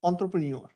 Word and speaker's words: entrepreneur: So you have to replace the E with O and now you can pronounce the word by replacing the E with O it becomes entrepreneur.